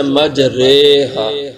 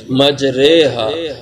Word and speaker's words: مجریہا: نیچے کھڑی زیر ہے، تو عام طور پہ تو اس کو کھڑی زیر کو کھینچ کے پڑھا جاتا ہے، تو اس لحاظ سے اس کا تلفظ یوں ہونا چاہیے تھا مجریہا، لیکن ایسا نہیں۔ یہ قرآن پاک میں ایک موقع جہاں پہ اعمالہ ہوتا ہے، اس کو تجوید اور قرات کے اصول میں اعمالہ کہا جاتا ہے، اور اس کا تلفظ جو ہوتا ہے مجریہا، مجری نہیں اس کو پڑھیں گے، مجریہا۔ تو بسم اللہ مجریہا،